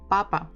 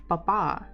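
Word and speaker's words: папа: the time wow Papa so the stress is on the first syllable Papa actually if you stress the second one it will sound Papa more like French manner so if we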